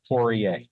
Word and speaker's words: Poirier: The best that I can do is Poirier. Poirier. Now, is that Poirier doesn't have the W after the P sound, which is the way that it might be pronounced in typical French?